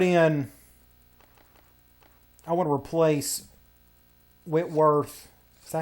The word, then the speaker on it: Whitworth: I want to replace Whitworth Is that how you say his name? Yes, Whitworth.